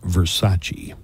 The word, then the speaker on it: Versace: girl and she couldn't say Versace Versace ver pronounced Versace oh yeah Kyle mclin was in Gina Gerson